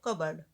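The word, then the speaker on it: cupboard: सो CUP, P silent रहता है, C, इसलिए हम कबर्ड, ओके, BORD, टीनर्स, टीना की, सो यहाँ पे अपॉस्ट्रोफी यस लगेगा।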